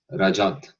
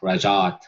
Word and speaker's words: Rajat: there uh in india the youth pronunciation is rajat with focus on the r singer and going lower but it's difficult for